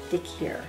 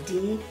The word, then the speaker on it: Dhikr: I'm not 100% sure that I'm pronouncing this correctly because it's D-H-I-K-R. Dhikr. That's how I'm pronouncing it.